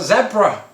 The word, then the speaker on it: zebra: of the word um but uh but zebra that's how we say and of course it goes back to the the letter z uh which of course americans pronounce zod as in general isn't it oh okay i just assumed z got it okay